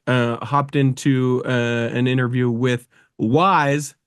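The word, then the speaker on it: Y's: into an interview with Wise. That's spelled the letter Y apostrophe S guy.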